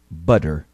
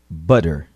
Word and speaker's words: butter: Mas não é um D forte, bem pronunciado. É um D bem rapidinho. Escute novamente. Water. Outros exemplos. Ouça e repita. Butter. Butter.